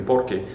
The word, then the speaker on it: porque: be the same thing it's gonna be porky but it's going to be attached together and then it's a magical